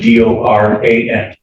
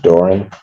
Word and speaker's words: Doran: Spelling on the last name is D-O-R-A-N. And it's pronounced Doran.